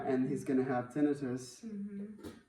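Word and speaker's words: tinnitus: And he's going to have tenitus, which is how you say it, by the way.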